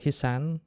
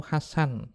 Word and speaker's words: Hasan: Kalau Haji Imad mengatakan Tarikh Ibn Hisan, bacanya itu Hasan, double S, Hasan, bukan Hisan.